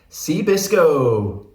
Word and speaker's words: Cee Biscoe: by Sue mongradine and seabisco seabisco rhymes with disco Rhymes away here we